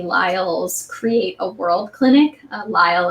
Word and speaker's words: Lisle: Lyle is spelled Lisle.